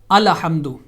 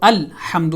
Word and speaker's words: الحمد: دوسرا لیٹر جو ہے لام، وہ ساکن ہے، اس کو سکون کے ساتھ ادا کیا جائے گا، اس پہ زبر نہیں پڑی جائے گی، جیسا کہ آپ یہ